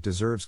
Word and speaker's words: deserve: is in this case the accent is in the second syllable corresponding to serve below are other ways